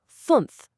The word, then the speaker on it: fünf: Just say E, freeze your tongue completely in place, and round your lips. That's it. It lets you perfectly pronounce words like "fünf", which is five, and "Tür", meaning door.